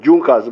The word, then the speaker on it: Junkers: They are written as Junkers, but they are pronounced as Junkers.